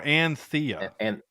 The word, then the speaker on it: Anthea: Well, you think it's Athena, but it's like they call her Anthea. Anthea. Anthea, but which is not Athena. It's not, but it's spelled Athena. No, it's spelled Anth. So Anthea.